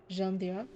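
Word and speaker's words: Jeanne d'Arc: Literally the pronunciation Jean Dak Jeanjac Jean Dak that Asuna is from Sword Online.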